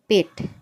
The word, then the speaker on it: pet: इसको हम पढ़ेंगे पेट, ना कि पीठ पढ़ेंगे। पीठ पढ़ेंगे तो ये गलत होगा।